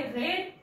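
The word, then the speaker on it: read: हॅज ही हॅज वाचण्यासाठी third form आहे रेड spelling same आहे उच्चार रेड ही हॅज रेड above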